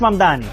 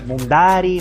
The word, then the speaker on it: Mamdani: Fíjense, nadie sabe pronunciar mi apellido. Es Mamdani, pero a cada rato me dicen Mundari, Mumnari, y esto es algo que muchos inmigrantes tenemos en común.